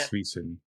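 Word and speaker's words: Zwiezen: And I read something on Kotaku from Zach Zwazin, if I'm pronouncing that right. Svisen, I think. Svisen, Zach Yeah. Svisen.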